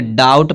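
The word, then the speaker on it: doubt: अब यहाँ जो टी है, इस टी से पहले क्या आया है? बी। जब टी से पहले बी आएगा तो बी क्या रहेगा? साइलेंट रहेगा। इसको क्या पढ़ेंगे? डाउट पढ़ेंगे।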